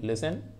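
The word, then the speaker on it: listen: ऐसे विसल में T silent होना चाहिए, तो विसल में लिसन आपका T साइलेंट है ना।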